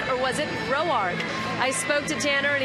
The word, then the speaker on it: Roark: Was it Rourke or was it Roark? I spoke to Tanner and he said, you know, all throughout the minors I went by Rourke, and then it was his grandmother, Lorraine.